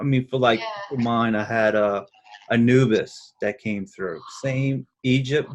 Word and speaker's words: Anubis: And what made it great was she kept on calling the name wrong. She kept on saying Anubis, like Anubi or something like that. And I was like, Oh my did you gosh. say Anubis?